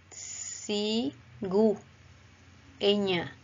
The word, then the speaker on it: cigüeña: Si, gu, e, ña. En el mismo caso, queremos que suene la U en esta norma ortográfica.